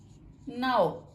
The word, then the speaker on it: know: ناؤ, اس میں بھی ہم نے کے کو سائلنٹ رکھا ہے.